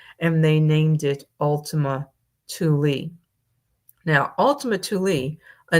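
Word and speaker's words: Thule: Well, the author says, "Well, NASA apparently did not realize that ultimately, pronounced Tuli, was a term used by the forerunners of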